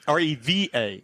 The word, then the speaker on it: Reva: Reba, like is in Reba McIntyre? R-E-V-A. Oh, Reva.